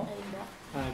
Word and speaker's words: Edinburgh: Edinburgh. Que hay que pronunciar así.